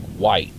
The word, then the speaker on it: wight: A wight, it's W-I-G-H-T, but it's pronounced W-H-I-T-E, like white.